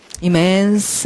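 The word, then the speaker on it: immense: 갈게요 자 그러면 그다 발음 발음은 이멘스 하다 자 이런 거 읽을 때는 이스 이러지 말고 스라고 소리를 길게 느려서 해야지 돼요 우리가 넓은 이라든지 광대한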